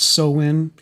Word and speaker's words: Samhain: Halloween, or Samhain, pronounced Samhain, has its origins in Europe, specifically the Celtic traditions, and its first recorded celebration dates back to 600 AD.